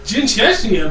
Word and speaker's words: Jin Chechnya: I'll call you Jen Chechnya. There we go. Yeah, that's how you pronounce it, Jin Chechnya. Like the country, or not the country, the region.